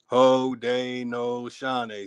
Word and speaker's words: Haudenosaunee: They're showing you how to properly pronounce the word. Haudenosaunee.